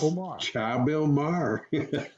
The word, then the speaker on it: Chabil Mar: it i'm trying to spell i'm trying to pronounce it like it's french you know what you just say it omar it's just chabilmar chapelmar is a resort um it's villas in belize